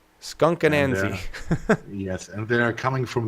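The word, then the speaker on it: Skunk Anansie: How's it pronounced? Skunkanansi. Skunkanansi.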